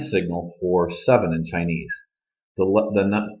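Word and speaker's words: 七: for seven in Chinese the number seven is T just like if you've ever heard of Tai Chi t is number seven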